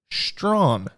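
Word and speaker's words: Strachan: The Indianapolis Colts select Mike Strawn, which, by the way, is not how his name is spelled.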